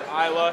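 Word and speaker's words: Islay: pronounce it it's from the aisle of Isa pronounced Isa it's spelled Isle some people get confused there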